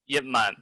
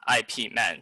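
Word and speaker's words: Yip Man: yemen oh by the way his name is pronounced as yipman but not ip man so please don't call him ip men please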